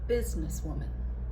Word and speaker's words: businesswoman: what I did is I put the primary stress on the first syllable and I did the secondary stress on Woman. So you put it all together again. Business woman.